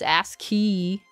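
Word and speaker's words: ASCII: don't know oh no he was saying it is ask key I always read it I've never looked up the pronunciation I've always read it as just the individual letters like a like an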